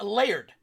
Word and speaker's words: Laird: It's not L-A-R-D. L-A-R-D would be lard. This is L-A-I-R-D, so I would say it's layered. Layered, like you're layering pizza. You're layering a lasagna.